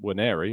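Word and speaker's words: Nwaneri: really difficult Ethan weri who by the way is pronounced weri as we heard has played predominantly through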